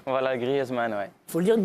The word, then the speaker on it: Griezmann: Griezmann et pas Griezmann. Voilà, Griezmann, ouais.